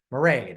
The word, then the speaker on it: Marade: So it's pronounced like parade with an M. Oh. Marade, right?